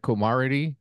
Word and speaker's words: camaraderie: Camaraderie?